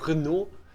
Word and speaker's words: Renaud: And Renaud. You don't pronounce the last letter in French, you know.